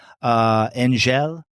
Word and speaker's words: Angèle: Okay, so he's going back to Cambirac, and he at night goes to the house of his aunt, Angèle. Is that how you pronounce her name?